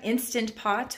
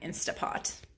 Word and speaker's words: Instant Pot: And also I got an Instant Pot, which I am calling Instapot. So I know I'm not saying it right, but it's just easier to say Instapot.